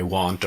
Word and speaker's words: want: or you want now the difference in the pronunciation is with the pronunciation of won't the mouth does not open very much here I won't do it I won't do it not much right but here I want